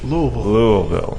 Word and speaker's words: Louisville: Louisville. Louisville. No, not Ville. Louisville. Oh, that's the Everything difference. is Vol. Not Louis. Louisville.